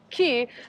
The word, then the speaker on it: cay: It's always like so anxiety inducing for us, like how to pronounce it, even though we now know that they're all pronounced key.